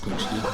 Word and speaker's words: Punchki: Pronounced Punchki. It's a Polish donut, basically.